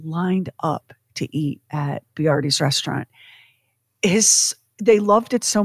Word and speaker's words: Boiardi: But people struggled to pronounce the name because it was spelled Boiardi. Mm-hmm. They were like, are you Barut? So he said, all right, we're going to change the spelling to Boyardee, Chef Boyardee.